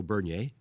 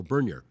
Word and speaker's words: Bernier: Now, I always heard his name pronounced two ways. One, the more French way, Leo Bernier. But people, I think, in Northern Ontario also called him Leo Bernier. Okay. So I heard both pronunciations.